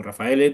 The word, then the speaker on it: Raffaele: voy a empezar directamente Rafael Como rafaele te voy a te considero ya como te te pronuncia la española tu nombre pero como no no